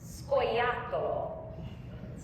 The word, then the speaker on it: scoiattolo: It's scoiattolo.